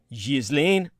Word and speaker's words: Ghislaine: Indeed, the very name Ghislaine is of French origin, and in that language is pronounced with a soft G, like in the words général or magique, or a hard and audible S like sac or sorry, and a hard A like gate or aim.